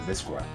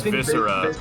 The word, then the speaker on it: viscera: would be yeah viscera is it mystery or is it visco it's it's viscera the blood well i know that's like viscera is an actual word